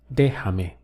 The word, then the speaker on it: déjame: Okay, so the sound to express let me is déjame. Notice we have three syllables. De, ha, me. Déjame.